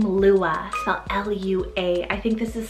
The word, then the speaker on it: Lua: refuge another girly l name it's the name lua l-u-a i think this is so pretty for